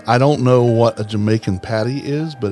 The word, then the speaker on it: Jamaica: It's everybody wants to call it Dire Maker, but it's actually pronounced Jamaica. It's actually Jamaica.